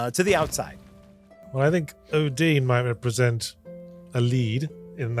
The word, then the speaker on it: Odin: So, so what I will say is Odin is on the council. I knew it was Odin is 100% on the council. It's time for a Jeremy touch base. Also, you pronounced it Odine previously.